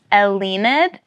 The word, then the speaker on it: Elleinad: band you got say say it slower and spell it for me what is it so it's elid which is just d spelled backwards look at